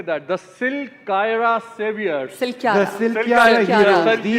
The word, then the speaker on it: Silkyara: Silkyara.